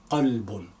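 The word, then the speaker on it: قلب: This one is ka, cough, qalbun, qalbun mean heart, but kalbun as a dog, ka. So you have to really distinguish in your pronunciation of ka and calf.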